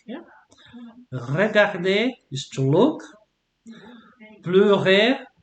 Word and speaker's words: pleurer: Pleurer, so pronunciation of EU is like yeah. Pleurer, to Bleu.